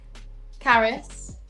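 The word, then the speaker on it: Carys: wrong car's uh Havard Caris yes yes sure c a r Ys yes Caris it's very popular Welsh name oh sorry I'm from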